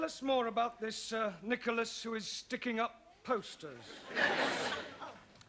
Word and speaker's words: Nicholas: upon a times there was a man called nickel ass it's not quite right no no once upon a time there was a woman called Nicholas it's pronounced Nicholas so right once upon a time there was